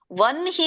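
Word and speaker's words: ವಹ್ನಿ: ಎದೆಯಿಂದ ಬರಬೇಕು ಅಂತ ಹೇಳ್ತಾರೆ ಹಾಗಾಗಿ ಇಲ್ಲಿ ನ ಅನ್ನೋದು ಮೊದಲು ಉಚ್ಚಾರಣೆ ಆಗಬೇಕು ಯಾಕೆಂದ್ರೆ ಹ ಅನ್ನೋದು ಎದೆಯಲ್ಲಿ ಬರಬೇಕು ಅಂದ್ರೆ ನ ಅನ್ನೋದನ್ನ ಮೊದಲು ಉಚ್ಚಾರಣೆ ಮಾಡಬೇಕು ಈಗ ವನ್ಹಿ ಅಂತ ಹೇಳಿ ನೋಡಿ ವನ್ಹಿ ವನ್ಹಿ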